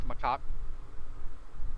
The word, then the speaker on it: macaque: pronounced macaque.